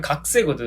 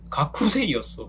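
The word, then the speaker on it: がくせい: 오, 이게 이제 발음 관련된 건데 스 발음 있잖아요. 스? S 발음. 네네네. 그리고 그 앞에 K 발음이 있어요. 음. 그러면 각쿠잖아요. 그러면 그 쿠가 약간 받침처럼 각세가 되는 경향이 있는 것처럼 또 하나 얘가 야쿠소크거든요.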